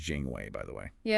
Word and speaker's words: Jinghui: And that's pronounced Jing Way, by the way.